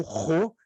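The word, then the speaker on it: ῥῶ: que a gente lê tem o desenho da nossa letra P é o Ro e o som é de R como da palavra rolado depois nós temos como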